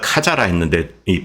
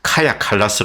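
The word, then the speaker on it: Kaja Kallas: 출신의 유럽 외교위원장 외교위원장이 제가 카자라이네이 발음이 잘못되었다고 합니다 카야 칼라스 아고 합니다이 카야 칼라스 그런데 부치는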